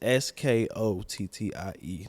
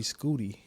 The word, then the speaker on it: Skottie: It's Skottie, not Scotty and SC. And people be calling me Skootie. Skootie. Really? Because I changed one letter and they think that Scooter spelled with two O's, right? Yeah. So I changed one letter and y'all call me Skootie.